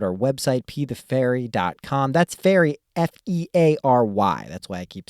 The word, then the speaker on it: Feary: I'm gonna say Pea The Feary, even though it's spelled Fury, but it's Pea The Feary.